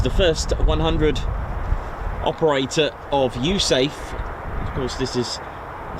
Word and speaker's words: USAFE: States Air Force in Europe pronounced USAFE. The letter E on United States Air Force stands for Europe.